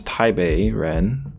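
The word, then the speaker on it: 台北人: people by pong although that is of course taibe Ren not Tai but taibe in Chinese and the correct pronunciation of um P pen yong's name should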